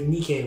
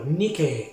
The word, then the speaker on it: Nike: fact about that though nikkei is spelt nike if you think that's a coincidence you are completely wrong nikki is the god of victory the brand nike puts